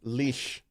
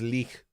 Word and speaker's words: Lich: l i c h has different pronunciations in different languages so it depends on what language you are saying the word in so if you say